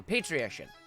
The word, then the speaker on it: patrician: It's pronounced like electrician, so patrician.